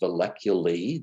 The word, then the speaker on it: valleculae: If you add an E to it, it is pronounced valleculae.